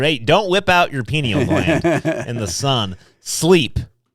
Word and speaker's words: pineal: um spell it correctly their penile gland their penial no no no p-i-n-e-a-l pineal gland okay here we go how